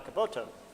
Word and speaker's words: Caboto: yes yes John Cavett or to use this the genoan pronunciation John Caboto uh yes John Cabot our